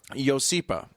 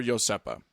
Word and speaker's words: Iosepa: The name of the town is Iosepa and or Iosepa. Yes. Both are acceptable pronunciations. Both it's a Polynesian variant on the word Joseph.